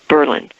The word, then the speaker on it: Berlin: of Berlin it spelled like Berlin but they pronounce it Berlin and they wrote in their local ordinance that